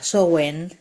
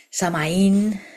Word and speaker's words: Samhain: La fiesta es llamada Samhain, escrita de esa forma, pronunciada Samhain, Samaín, Samhain también podemos escuchar en muchas partes de España, sobre todo por la parte del Samaín de Galicia.